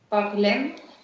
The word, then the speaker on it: parlent: Ils parlent. Parle, parle, да. Смотри, вот это окончание ENT никогда не читается. Поэтому получается il parle.